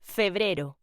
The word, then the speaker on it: febrero: February, in Spanish, is pronounced febrero.